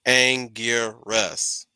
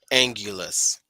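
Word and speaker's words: Anguirus: people in the back it's angiers that's his real name not angulos all right that's a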